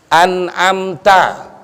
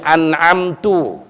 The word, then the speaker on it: an'amta: An'amta. Inti bacanya an'amtu atau an'amti. Ya, aturan di fathah didomahin sama dikasrohin, nggak boleh, ya, berubah maknanya, ya.